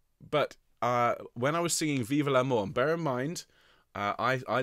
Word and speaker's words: vive l'amour: and that's not what we're singing we're seeing vive L'Amour ok vive l'amour so please join me with